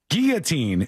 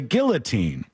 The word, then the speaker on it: guillotine: is a word where some people say Guillotine but if you say Guillotine the audience is going to think that you're a dummy and that you don't know how to say the word and you don't know anything about this and you'll actually get more emails calling you dumb if you say it the correct way anyhow I digress this